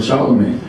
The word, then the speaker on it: Charlamagne: So I was like, oh shoot, I'm gonna start calling myself Charlamagne. And I spelt it with an A just because that's how I pronounced it.